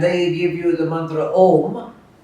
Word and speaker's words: Om: So the usual pronunciation should be with closing the lips. Om. Обичайното произношение с затваряне на устните, както го чухте току-що. But the Bengalis will say Om.